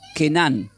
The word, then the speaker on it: Canaán: Canaán proviene del hebreo y tiene significados que parecen raros significados, pero se pronuncia como con cada kilo tienen que poner kenan. se pronuncia Kenan y significa indica tierra